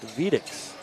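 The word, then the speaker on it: Vediz: There's a drive and a missed layup by Cooper Vedix. Vedix is spelled V-E-D-I-Z, but it's pronounced Vedix.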